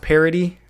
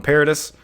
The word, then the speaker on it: Paradis: I think his name is pronounced Parody, but I'm just going to keep calling him Paradis.